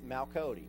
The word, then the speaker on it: Meikodaj: It's Mal Cody, and that doesn't sound like too strange of a name, but it's spelled Meikodaj.